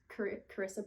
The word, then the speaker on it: Carissa: up, it said that her name is pronounced like Teresa, but with a C. So to me, that's Teresa.